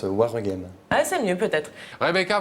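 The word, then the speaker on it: Waregem: Non, on prononce Warregem.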